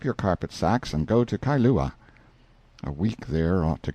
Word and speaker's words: Kailua: We landed at Kailua, pronounced Kai-lu-a, a little collection of native grass houses reposing under tall coconut trees, the sleepiest, quietest, Sundayest-looking place you can imagine.